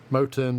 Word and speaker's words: Motern: Moten, by the way, is spelled Motern.